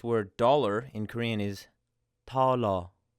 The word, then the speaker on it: 달러: So we have this word dollar in Korean is 달러. So it's a very light T sound at the beginning.